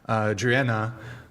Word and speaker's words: Driena: Driena, did I say it right?